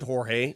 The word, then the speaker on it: Jorge: I gave him a he spells it Jorge pronounces it George I gave him a Jorge and he goes that's actually the right way to say my name but I just say George so you can just